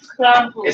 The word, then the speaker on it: Krampus: And we're watching Hereditary and Crump Krampus. Krampus. Krampus. Say it right. Krampus.